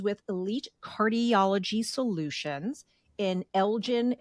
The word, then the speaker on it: Elgin: Elite Cardiology Solutions in Elgen Illinois did I pronounce that okay Elgen is that correct that is correct I'm from Jersey I'm